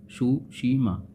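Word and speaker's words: Tsushima: तो जो ये देखो इसको पढ़ेंगे हम सुशीमा, अच्छे से लिख देता हूँ, सुशीमा। इसमें टी साइलेंट होता है।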